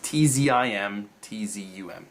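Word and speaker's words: Tzimtzum: And, I mean, if you're a Kabbalist, you probably have heard, I'm going to get this name wrong, the Zim Zone. It's Tzim, Tzum. That's how you spell it.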